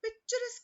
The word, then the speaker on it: picturesque: But picturesque is the pronunciation.